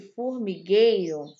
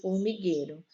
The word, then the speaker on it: formigueiro: tchau pronunciar águia e formigueiro né aí ó a letra o som da letra u não é pronunciado quando a gente fala águia e formigueiro só é a pronunciado